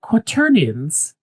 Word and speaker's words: quaternions: used a word, and I'm probably going to mispronounce it. Is it quaternions?